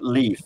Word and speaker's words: Leif: I found Leif Garrett a very interesting name because the name Leif, which in Swedish is pronounced Leif, is a very ordinary, was in the 70s and 80s, ordinary Swedish name.